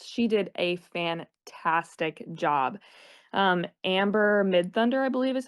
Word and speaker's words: Amber Midthunder: Amber Midthunder, I believe is how you pronounce her Mm-hmm.